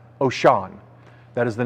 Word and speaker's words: Wouxun: There is a company that's called, it's a Japanese or Chinese company, Chinese company called, it's spelled Wouxun, but it's actually pronounced Oshan.